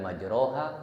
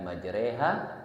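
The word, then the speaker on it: مجريها: Tapi kemudian ada tulisan kecil tuh namanya imalah. Imalah itu bacanya mirip. Maka dibacanya bismillahi majreha wa mursaha. Itu jadi tulisannya ro. Kalau kita enggak ngaji bacanya ro tuh salah kalau secara hukum.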